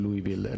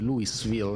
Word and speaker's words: Louisville: The first time I said Louisville, and then I realized the S is silent. And I think now I'm doing fairly well, but it was not easy to learn.